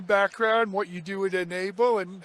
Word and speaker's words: N-able: We're here at the booth of a company called Ena Enable. Let me show you how that's spelled.